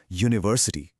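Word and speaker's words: university: शुरू तो यू से हो रहा है जो एक वोवेल लेटर है। पर इसका साउंड क्या है? यू। यह एक कंसोनेंट साउंड है इसलिए अ यूनिवर्सिटी होगा ना कि एन यूनिवर्सिटी।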